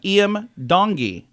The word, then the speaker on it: Iam Tongi: IEM not William eem e e a m eem dongi is how you would say it so I